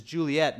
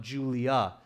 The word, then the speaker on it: Juliet: So Juliet or Juliet spelled like that, but it's Juliet, not Julia. Julia is a different name. So you have to catch the T on that.